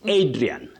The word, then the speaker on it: Adrian: Adrien not Adrian. Okay.